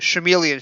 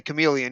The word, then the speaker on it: chameleon: And I assume that when Tom Baker said chameleon factor, he was mispronouncing the word. There's no chameleon factor. We would say chameleon here.